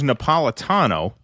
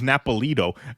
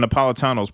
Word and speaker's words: Napolitano: latest appearance on Judge Napolitano sick see the guy said it wrong he was Judge napolo caught your latest appearance on Judge napolo uh he was referring